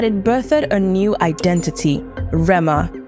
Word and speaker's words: Rema: birthed a new identity Rama r-e-m-a unburdened by the silent h that once defined him the metamorphosis was Swift